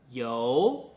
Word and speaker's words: 游: 好的，今天最后一个字是游。